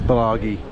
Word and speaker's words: Blagaj: And we're staying I actually pronounced the campsite incorrectly. It's Blagaj. So, it's g i, not Blagaji.